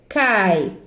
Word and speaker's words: cai: Cai, cai. Tem como eu dividir essa sílaba? Não, eu pronuncio cai. Fica uma sílaba só.